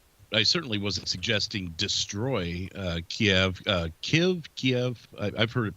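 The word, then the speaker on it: Kyiv: Kiev has the ability because, so there's an airbase in Kiev. I say Kiev, but it's, again, I explained earlier in a little diatribe that apparently it's pronounced Kiev.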